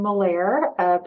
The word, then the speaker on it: Malaer: My name is Malaer, pronounced like Bel Air, but with the letter M.